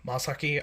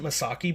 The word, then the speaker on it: Masaki: Isshin and Misaki, or Masaki, I think it's... I've always pronounced it Masaki, but they pronounce it Masaki, but it's like Masaki, like M-A instead of M-I.